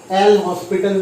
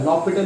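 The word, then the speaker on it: L'Hôpital: सही नाम तो लेगा, लॉपिटल बोलते इसको, ठीक है। एच और एस जो है वो साइलेंट है, लॉपिटल, एल हॉस्पिटल नहीं, गवार की तरह एल हॉस्पिटल मत बोलिएगा, ठीक है।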